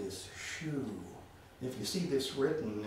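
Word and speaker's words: xu: the liver sound is shu if you see this written and pinion it's going to be x u but the x is uh pronounced like sh so it's shoe shoe for the liver um anything else i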